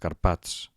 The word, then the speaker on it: Carpats: Comencem per les agudes, intentem pronunciar-les. Un moment abans que ho digui jo. Xofer, oboè, alfil, zenit, futbol, el Tibet, els Carpats.